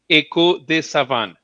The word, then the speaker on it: Echo des Savanes: And it's Echo des Savanes. Echo des Savanes. Yeah, the S is silent.